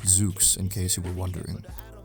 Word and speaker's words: XOOX: That's pronounced XOOX in case you were wondering.